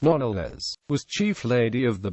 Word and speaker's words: Knollys: After her marriage, Catherine Knollys, and later Lady Knollys, pronounced NOL-les, was Chief Lady of the Bedchamber to Queen Elizabeth I, who was her first cousin.